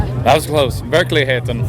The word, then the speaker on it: Verkligheten: Okay, let me try and pronounce it correctly. You got Verkligenheten? That was close. Verkligheten. Verkligheten.